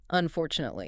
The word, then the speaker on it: unfortunately: Next is unfortunately. Stress the four.